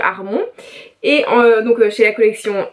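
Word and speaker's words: Harmon: d'Amy Hermon, enfin bref, je voulais le prononcer à l'américaine mais c'est un peu raté, donc on va dire Armon.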